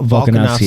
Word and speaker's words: Volkanovski: Volkanovski.